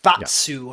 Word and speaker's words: Batsu: what is the literal pronunciation of the... Batsu. Batsu. Yeah, do you know how like in Berserk it's Gatsu and it gets like kind of translated as guts is his name?